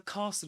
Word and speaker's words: castle: Did you know that the S is silent in this word?